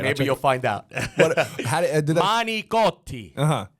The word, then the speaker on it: manicotti: Manicotti. Not managot. Okay. Some people say managot. Yeah. It's not even, if you spell it, you can't even pronounce it like that. It's manicotti.